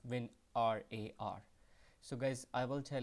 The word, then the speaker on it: WinRAR: to call but uh the correct pronunciation is when r a r so guys I will